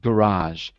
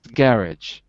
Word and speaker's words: garage: me the second word i say garage because i'm american garage in british english it's garage in british english garage in american english garage okay okay so